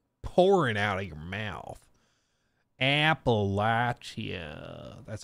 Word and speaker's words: Appalachia: out of your mouth Appalachia that's how you got to do it is where you go